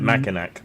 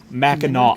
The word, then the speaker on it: Mackinac: this is Mackinac Island. Mackinac. No, Mackinac would have a W at the end. Who put that? No. The C is silent.